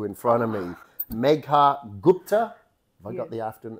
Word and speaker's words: Gupta: but the view in front of me mea Gupta have I got the after the the the last name pronunciation correct yes you I got it perfect